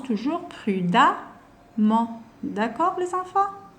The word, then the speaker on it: prudemment: On prononce toujours prudemment.